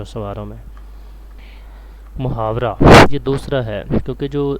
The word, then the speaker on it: محاورہ: یہ عربی زبان کا لفظ ہے محاورہ، جس کا صحیح تلفظ ہے محاورہ۔ لغوی معنی اس کے